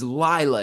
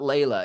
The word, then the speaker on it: Laya: she's like that is Laya it's not Lila and so sure enough the first narrator called her you know lla lla lla but or and but I got to go back and tell them how to say it when Scott Brick took over and now she or Lea now she is Laya and so I